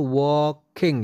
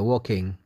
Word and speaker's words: walking: all bacanya berjalan itu Walking ya l-nya enggak usah dibaca Walking I'm so thirsty saya